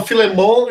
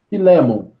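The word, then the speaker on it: Filemom: Existe uma certa concordância de que no grego o acento está em cima do E. Então, aí, por isso que a gente fala Filemon, porque a gente lê o texto grego, o acento está ali.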